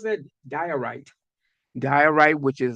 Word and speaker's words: diorite: How you pronounce that? Diorite.